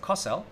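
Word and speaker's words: כותל: Regarding the model of the temple, Camille says, which one is the kotel, or some would pronounce it kosel, today?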